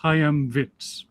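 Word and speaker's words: Chaim Witz: It's Well, it's spelled Chame Witz, but it's pronounced Hyam Vitz.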